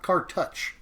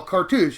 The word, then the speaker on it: cartouche: card first of all it is cou not cartouch or cartouches that's not not at all carou is the proper pronouncing there like cartoons but with like cartoon douche how you pronounce that carou um but the other